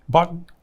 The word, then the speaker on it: Bonton: I've been to the, how you pronounce it, Bonton? Bonton.